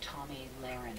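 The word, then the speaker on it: Tomi Lahren: by the name of Tommy lren am I saying her name right you saying it correctly she has called there's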